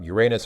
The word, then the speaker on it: Uranus: that is um depending depending on how you pronounce it it's either uranus or uranus some people prefer uranus because the other pronunciation lends itself to quite uh quite naughty jokes wasn't there a um